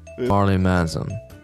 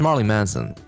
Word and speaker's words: Marilyn Manson: Marley Manson.